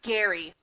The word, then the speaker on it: Jarie: It should be spelled Jarie. I.E. But it's pronounced Gary. It's like GIF and GIF.